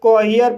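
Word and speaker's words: cohere: सी को का पढ़ा जाएगा, ओ को ओ पढ़ा जाएगा, एच को हा पढ़ा जाएगा, ई को ई आ पढ़ा जाएगा, आर को रा पढ़ा जाएगा और ई साइलेंट रहेगा। इस तरह से कोहियर पढ़ा जाएगा और कोहियर मीन्स अनुकूल होना।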